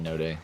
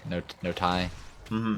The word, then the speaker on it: Kanotai: Is the K silent? I'm assuming the K is silent. I'm saying Tiny Notai. Notai. That's right.